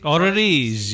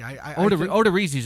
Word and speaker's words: Odorizzi: Can you pronounce this for us, Mike, correctly? Jake Odorizzi. Odorizzi.